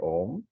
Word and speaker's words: om: syllables a Uma so while pronouncing of course you don't say that you say om and between one ohm